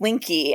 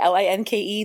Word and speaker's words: Linke: The E is not silent. It's such a trick. Linke. Thank you so much for correcting me. I'm big on names and pronouncing them correctly, so I appreciate that. Well, I get it. The E just seems like it's not there, but it is.